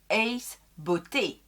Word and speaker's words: Ace Beauté: se posent la question ça se prononce ace beauté c'est une c'est une